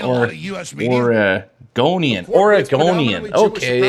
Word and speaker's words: Oregonian: Orgonian. Okay. It's not an A. Organian. It's Orgonian.